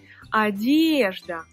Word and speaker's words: одежда: Одежда, одежда, l'accent tonique sur le «е», одежда.